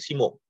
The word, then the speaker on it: 下: yang dibawah ini Kakinya shitaya ini kita bacanya Simo Simo ya De Mungkin kita